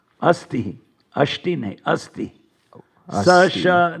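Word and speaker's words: अस्ति: It should be asti, not ashti.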